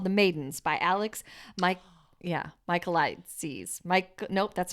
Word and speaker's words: Michaelides: Michaelides. That's what it is. Michaelides. I was saying Michael Ides, but it's Michaelides.